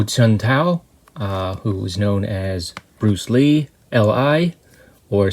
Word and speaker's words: Bruce Li: This week we're taking a look at the film Dynamo, starring Ho Chun-tao, who is known as Bruce Lee, L.I., or sometimes pronounced Bruce Lie.